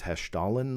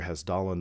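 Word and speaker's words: Hessdalen: the has dahlin lights I believe the correct way and you'll know this uh probably better than I I think it's Hesh Stalin lights is the correct way to pronounce it but most I hear has stolen lights uh yes I'm very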